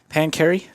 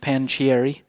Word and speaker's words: Pancheri: and we have been pancary not panchieri from i would have